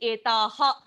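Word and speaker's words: एतः: So here, just the Sanskrit pronunciation, etaha, you will explicitly say that. In Hindi, we don't do that. In Sanskritam, etaha, taha, kaha. So that ha sounds in Sanskrit.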